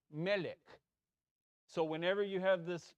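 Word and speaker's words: מלך: It's not melech, it's melech.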